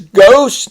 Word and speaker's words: ghost: Notice the ST makes the O long. There's a lot of words like post and host and most where the ST makes the O long. And here we have ghost. Just you hear the G, but hard G, but not the H.